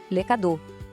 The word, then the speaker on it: les cadeaux: Les cadeaux. Atenção na pronúncia aqui. Les cadeaux. Aquele X no final é mudo, a gente não fala, tá? Mais uma vez, les cadeaux.